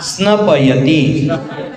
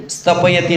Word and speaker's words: स्नपयति: जनताम जनताम या या स्नपयति स्नपयति स्नपयति स्तपयति नहीं स्नपयति, ध्यान देना, स्नपयति स्तपयति नहीं, क्या नाम है वहां?